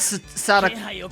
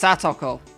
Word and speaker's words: Satoko: Not bad, Sadako. It's gonna... Look, I'm not gonna lie. It's gonna really trip me up calling her Sadako from now on. I guess that's because it's pronounced Satoko.